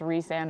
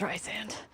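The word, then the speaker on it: Rhysand: whole debate among a very popular book about if it's Reese-and or Rice-and, and it's the spelling. We can fight about it later. I know what book you're talking about, and it's, yeah, that's a debate. It's Rice-and.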